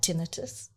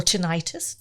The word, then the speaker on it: tinnitus: I have very bad tinnitus. Or tinnitus, depends how you say it.